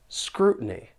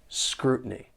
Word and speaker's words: scrutiny: from the US and with the American accent when the t is followed by an n Sound people may pronounce it with a gladle t and the the sound comes from the throat your vocal cords are closing and that's stopping the flow of air so when you hear me say words like Mountain certain scrutiny you hear that glottal te scrutiny just listen for